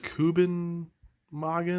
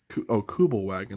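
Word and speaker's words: Kübelwagen: Kubenwagen or something like that. Kubelwagen. That's what it is right there.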